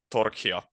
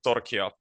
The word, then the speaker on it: Torchia: Well, it's actually a Spanish surname. So, if you would um you could say that the correct pronunciation is Torchia in a Spanish uh way.